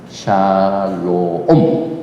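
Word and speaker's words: שלום: 라메 밥 맨요네 글자입니다 그래서 발음을 샬 항상 밥하고이 글자가 있으면 오바 샬롬 이렇게 됩니다 그런데 이 샬롬 평화의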